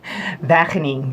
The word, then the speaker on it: Wageningen: Entonces cuéntame un poquito cómo es esta universidad de los Países Bajos que yo no puedo pronunciar. Wageningen.